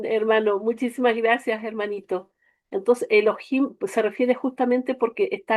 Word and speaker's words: Elohim: Elohim, claro, se escribe así, se pronuncia Elohim, ¿ya?